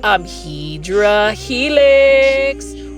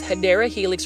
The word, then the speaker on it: Hedera helix: But just like Hydra Helix, or the correct way to say it is Hedera helix or English ivy, these are plants that I obsess about.